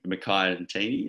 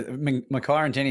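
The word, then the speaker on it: Makhaya Ntini: It was called the Ntini team, after, I can't pronounce his name, but Mackay Ntini, is that Mackay right? Mackay Ntini, yeah.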